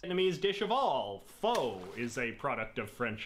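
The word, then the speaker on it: phở: as pot of foe the Vietnamese eventually shortened it to just faux meaning people like me who go around calling it foe are in fact objectively pronouncing It Wrong by any standard have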